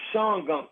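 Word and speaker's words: Shawangunk: We we pronounce it Shawang Gunk cuz that's how it's spelled.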